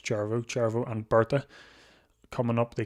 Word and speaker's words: Cervo: I think I pronounce it Cervo, but apparently it's Cervo and Berta.